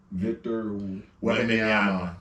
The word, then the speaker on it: Victor Wembanyama: Victor Wembanyama.